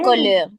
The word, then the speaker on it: couleur: Acuérdense que separamos así y Y, la R se Le, y, pronuncia, ¿eh? y, Le y colère. Muy le colère. bien, muy le bien. couleur, Le couleur.